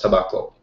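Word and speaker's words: 煙草: that's this is pronounced tobacco but normally these kanji wouldn't be pronounced that way so um you just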